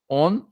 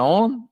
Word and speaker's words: On: On, filho de Pelete, On, em hebraico, né, que não se escreve com... No português traduziram com M, mas em hebraico é com N, igual ligar e desligar em inglês, né, On, é O-N, filho de Pelete, todos da tribo de Ruben.